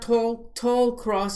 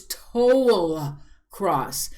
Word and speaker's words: Tolcross: an education on pronunciation it's not tall cross it's total cross so i'm sorry i